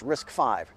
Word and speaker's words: RISC-V: little more sense then risk five this is pronounced risk five risk five is an open-source system that software